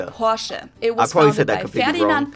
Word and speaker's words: Porsche: I've heard Americans pronounce it Porsche or Porsche. In German, we say Porsche. So there's like this short E sound in the end. Porsche.